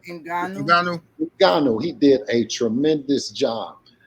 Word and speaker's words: Ngannou: You know, but as far as Francis, how do you pronounce his last name? Ngannou.